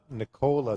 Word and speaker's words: Nicola: And it's Nicola, like Ricola or Uncola, Coca-Cola.